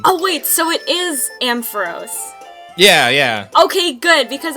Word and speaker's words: Ampharos: um so I did takes with Ampharos and AM Pharaohs or whatever oh yeah you were calling him